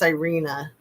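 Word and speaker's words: Iryna: Was I think it's Irena is how you say it. It's I R Y N A.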